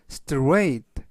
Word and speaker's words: straight: str 스라고 발음하시면 되겠고요 이때 끝부분에 있는 gh 이번 단어에서 무음이라 발음이 되지 않습니다 그래서 strate 강세는 알파벳 a 중간